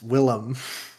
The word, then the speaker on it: Willem: love him so much why don't you say his name right defoe it's willem oh willem whatever [ __